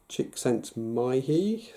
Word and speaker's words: Csikszentmihalyi: States of flow, very famously popularised by the Hungarian psychologist who died about a year ago, called Mihaly, never pronounce this very well, Csikszentmihalyi, something like that I want to say.